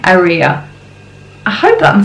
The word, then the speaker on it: Aria: But I think how you pronounce it is Aria. So it's A-R-I-A.